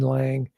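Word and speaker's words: Laing: So, I've been into if you want to check them out on your own, it's spelled L A I N G. He's Scottish by nationality, RD Lang.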